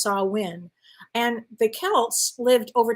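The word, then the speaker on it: Samhain: Celtic Festival called called saw win if I'm pronouncing it incorrectly let me know it's spelled s-a-m-h-a-i-n but it's pronounced saw win and the Celts lived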